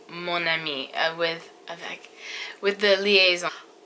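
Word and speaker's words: mon ami: don't say either mom I mean you say monami with avec with the liaison also there is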